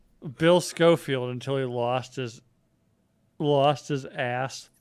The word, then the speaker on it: Schofield: name the same way that telemarketers pronounce it, which would be SCHOEFIELD. There's no E. It's SCHOFIELD. Just like the Bible and the revolver.